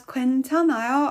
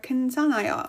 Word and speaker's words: 괜찮아요: So you can actually pronounce it as 괜찮아요 or 괜찮아요. All of them would work.